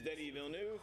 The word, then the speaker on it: Denis Villeneuve: It is Denis Villeneuve.